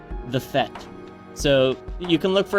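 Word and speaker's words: fête: Is it French? It is French. It is Fete. I think it is. It is. Isn't that the party? Yes, like the party. Yeah, it's Fete. The Fete.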